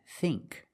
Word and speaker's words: think: The dictionary shows the word thin with the same pronunciation as thing and think, but they are different. Thin, thin, is a short I sound, thin, like this is thin. But with ing and ink, we use the long E sound, like green beans.